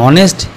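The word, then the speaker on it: honest: এই আওয়ার উচ্চারণের আ হয়েছে। তাহসিন ওয়াজ এান অনেস্ট ইউ আর এয়ার of this proper party Raju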